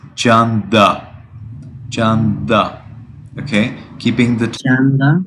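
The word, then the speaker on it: Canda: I think you read it like Kanda. Yeah. How do you spell it? C-A-N-D-A. C-A-N-D-A. Janda. And the perfect pronunciation is Janda.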